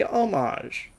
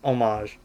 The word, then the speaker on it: homage: still some repair me homage why did I pronounce it like that it's homage you don't say you